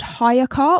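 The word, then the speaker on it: HiyaCar: And I have been using an app called Hire Car, which is spelled Hiya. Hire. As in like, hiya, car.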